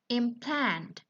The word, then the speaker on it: implant: For the verb, we have the stress in a second syllable. Yeah, implant. While for noun, implant, implant.